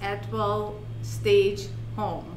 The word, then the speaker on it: Atwell Staged Home: her company name is edwell stage home staged home to pronounce that correctly you got it yeah if you take the t out it's a well staged home all right i love